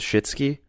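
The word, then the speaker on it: Suschitzky: this last name it's su SCH itz KY if you want to look that up do yourself a favor and just google Peter Cronenberg yeah anima tiger believe it pronounces shitski there you go that's the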